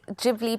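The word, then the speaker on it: Ghibli: are profound it's massive I just heard you say studio gibli so I've been saying it wrong no so it's actually gibli because as far as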